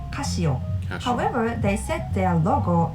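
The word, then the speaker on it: カシオ: Founder's family name Casio so in Japan we call them Casio however they set their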